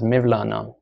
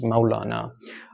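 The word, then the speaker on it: مولانا: Rumi as we said in Persian they call him Maulana in Turkish they refer to him as mevlana what the accurate accurate pronunciation is mawlana in Arabic I suppose it is Maulana in any case uh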